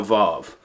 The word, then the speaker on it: waw: so today we are involved we have gone through all of bait gimmel dalit hey and now vov vov starts in Psalm 40 or verse 41 and continues to verse 48.